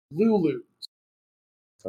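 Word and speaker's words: Looloos: been a baseball team named the Los Angeles Lulu so Los Angeles lulus that is spelled by the way l-o-o-l-o-o not l-u-l-u just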